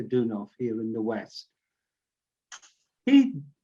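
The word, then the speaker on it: Deunov: great bulgarian spiritual teacher peter dunno for pronounced peter dunov here in the west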